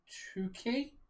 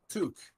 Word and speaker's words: toque: Tukey? No, toque.